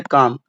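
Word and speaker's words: calm: Leaf के बाद यहां दिया गया काम। यहां भी एल है। यहां भी एल है। बट यहां पर प्रोनंसिएशन किया गया एल लीफ। यहां काम है। यहां एल साइलेंट है।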